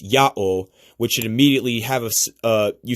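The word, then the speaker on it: ΙΑΩ: This, if you know how to speak Greek, you should see that it's pronounced Ya'o, which should immediately have you should immediately notice the phonetic similarity to the name YaHWèH.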